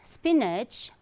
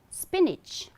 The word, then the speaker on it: spinach: Okay, and this is not spinach but spinach, spinach. Okay, though you will find A, N-A-C-H, but the correct pronunciation is spinach.